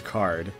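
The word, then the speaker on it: Kaart: So obviously Toby wanted us to pronounce it as card, but he didn't want it to immediately look exactly like card.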